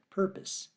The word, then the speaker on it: purpose: point it out but he did also mispronounce purpose he said purpa so I said purpose and he repeated it but again he mispronounced it so I said pose and he said pose then I said perpose and he he got it then I re read